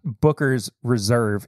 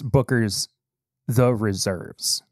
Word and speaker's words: Booker's The Reserves: And I always get this name wrong. It's not Booker's Reserve. It's Booker's The Reserves. Like the backups.